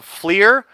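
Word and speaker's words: FLIR: Yeah, if you guys take anything from this stream today, I would say go check out the Fleer. It's actually F-L-I-R is the way to spell that one.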